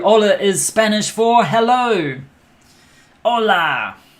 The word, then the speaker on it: hola: is spanish for hello hola you don't pronounce the h now you learned enough